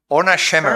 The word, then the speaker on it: Orna Shemer: Orna Shemer. Fine. Is it okay? Your name is properly pronounced?